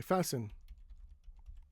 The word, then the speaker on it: fasten: Now in some words the t is silent after an s like uh listen. Okay. We don't say listen. we say listen or castle. We don't say castle, we say castle. And um I want to say fasten fasten. So here are some examples where the t is silent after the s but other times it's not silent like sister and fast.